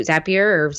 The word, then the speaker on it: Zapier: to my scheduling tool and that app through zapier j.pierre depending on how you want to pronounce it zaps over to Trello creates a